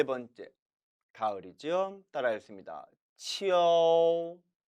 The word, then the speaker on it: 秋: 따라서 원래는 이 모음과 어 모음이 합쳐져서 이어, 가을 추자는 치어, 치어라고 발음해야 되는데 한어 병음에는 이와 우만 표기되어 있어서 마치 이것이 이유, 이유 발음인 것처럼 오인하게 되었다고 했습니다. 그래서 오늘날 중국인들 중에서도 젊은 층은 이것을 치어가 아니라 치우, 치우로 발음하는 경우도 있다고 했죠. 그럼에도 몇 성은 삼성만큼은 치어라고 발음하는 것에 주의하시기 바랍니다.